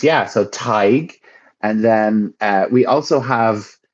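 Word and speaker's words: Tadhg: So this is Tig. Tig. That's how we pronounce it.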